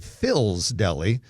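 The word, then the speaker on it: Phyl's: But a new deli called Phil's Deli, and it's spelled P-H-Y-L, Phil's Deli, is going into the former Ahmad's Persian cuisine space, which is next to Mr.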